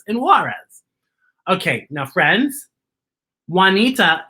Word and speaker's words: Juanita: juarez okay now friends juanita is a name that is spelled with j you wa and it has the juanita what has the what sound bjorn is spelled b